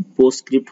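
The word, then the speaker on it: postscript: पोस्टस्क्रिप्ट में टी और एस को साइलेंट करके हम पढ़ते हैं, पोस्टस्क्रिप्ट हो गया।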